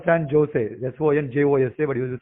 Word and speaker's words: San Jose: place called San Jose, Sonjose, but you spell it San Jose.